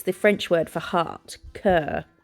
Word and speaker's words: cœur: I googled how to pronounce it, and it's the French word for heart, cœur, like the way they pronounce sister is sir, isn't it?